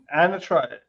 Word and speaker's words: anatra: Anatra.